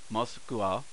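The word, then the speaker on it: モスクワ: for most school because remember they're pronounced a based on how the foreign persons of that country pronounce it not necessarily how the English happened to pronounce it so most cool moskva another thing to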